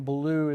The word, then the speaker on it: Bilyeu: Well, partly by necessity, because her last name is Wolf, but it's spelled with 2 O's, and my name Bilyeu is Bilyeu.